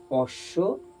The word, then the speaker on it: অশ্ব: যদি আমি এখানে উচ্চারণ করি তাহলে হবে অশ্ব, আর এটা হচ্ছে অম্বল। দুটো যুক্তাক্ষর বর্ণ, তবুও তাদের উচ্চারণটা হচ্ছে একটু আলাদা।